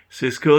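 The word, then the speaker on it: Sysco: hire about 150 people number seven cisco this is spelled s-y-s-c-o cisco they are hiring also for more than more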